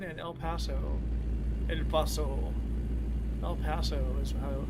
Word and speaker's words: El Paso: El Paso is how it's pronounced.